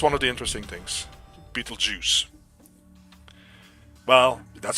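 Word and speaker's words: Betelgeuse: yeah that is one of the interesting things Beetle Juice well that's how it's pronounced it's actually not spelled as Beetle Juice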